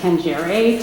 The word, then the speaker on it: tangere: It's 2 words, com, which means together, and I think it's pronounced tangere, to touch, T-A-N-G-E-R, is that, yeah?